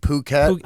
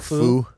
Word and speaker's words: Phuket: Phuket? It's a hard P. I got corrected. Hard P. Hard Why? P. What were you calling it before? Foo?